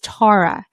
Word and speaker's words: Tara: I already did that, and episode 61 is hot on the podcast with Tara Swiger. I keep wanting to say Tara because I'm Kara, she's Tara. No, it's Tara.